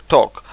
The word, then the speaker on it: talk: желт злата вот теперь слово ток английская пишется но толк так пишется на читается как ток и вот какой ток